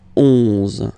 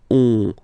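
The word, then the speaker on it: onze: 11. Okay, so O plus N give you the sound on. 11. 11. Okay, final E doesn't exist phonetically.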